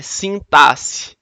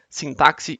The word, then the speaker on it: sintaxe: vê hoje tá é a pronúncia correta é sintaxe tá não é sim táxi sintáxi está errado tá é e toda